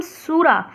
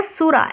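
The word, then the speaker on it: sura: जो हिस्सा होता है उसे कहते हैं हम सूरा उसे हम कहते हैं सूरा एस यू आर ए सूरा नी को हम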